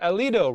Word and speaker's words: Alito: Tim Foster, Alito, rhymes with Toledo, Texas.